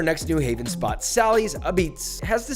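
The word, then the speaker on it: Apizza: Let's see what our next New Haven spot, Sally's Abits, has to say about that. The A in front of pizza is how we pronounce it, not a pizza, Abits.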